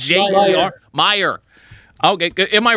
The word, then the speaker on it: Meijer: I think, is it pronounced Major? Meijer? Meyer.